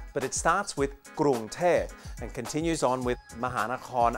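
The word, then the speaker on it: เทพ: Finally, there is a Popan, or P sound at the end. This final word is Thep, or angel.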